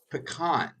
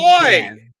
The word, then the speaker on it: pecan: the proper pronunciation of that pie, which is pecan, not Good boy. pecan.